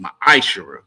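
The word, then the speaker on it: ma'aser: It means 10th in the Hebrew. It's pronounced ma'ashara.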